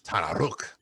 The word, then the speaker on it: Tanaruk: Also, there is the Tanaruk has an audio clip to teach you how to pronounce it, and it's Tanaruk.